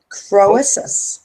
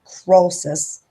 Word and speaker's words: Croesus: The curse of the, how you pronounce that? Croesus.